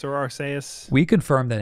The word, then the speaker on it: Arceus: we confirm if it's arceus or arseius we confirmed that in japanese it's aru uh but there's like uh in the trailer in english they call it arceus right so you say